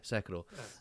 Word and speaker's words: Sekiro: Is that how you pronounce it? Yes. Yeah, Sekiro.